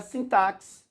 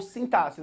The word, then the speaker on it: sintaxe: O quarto capítulo é a sintaxe ou sintaxe. Você pode pronunciar as duas formas, sintaxe ou sintaxe. Sintaxe é organização em grego.